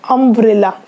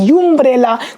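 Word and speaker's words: umbrella: लोग देखते हैं, तो जो अम्ब्रेला जो है यहाँ पर जो यू है एक्चुअली इसका जो प्रोनाउंसिएशन है वह है अम्ब्रेला, ना कि यूम्ब्रेला।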